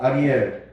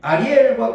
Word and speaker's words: 아리엘: 그래서 내가 이제 분리하기 위해서 이제 주부의 아리엘 그렇게 적어놨는데 뒤에 발음은 엘을 길게 하면 돼.